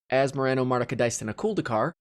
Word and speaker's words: Asmoranomardicadaistinaculdacar: it hopefully you now know how to say as moreno martica dice in a cool decar like all the other coolest kids out there